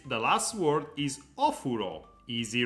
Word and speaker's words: お風呂: Joy says the last word is ofuro. Easy, right? お風呂 Yeah, is right, but the pronunciation, I was using a wrong pronunciation. It's not ofuro, is お風呂 ofuro. お風呂お Ofuro. 風呂 Ofuro, which is bathroom.